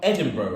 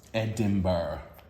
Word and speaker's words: Edinburgh: Edinburgh. I think it's because I always think there's an R after the B, but there isn't. I understand that, because you almost think the R is silent.